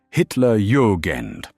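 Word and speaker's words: Hitlerjugend: SS Panza divisions, including the 12th SS Panza Division, Hitler Yugand, pronounced Hitler Yugend and Panza lair, pronounced close to pair.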